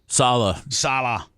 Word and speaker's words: Saleh: Saleh.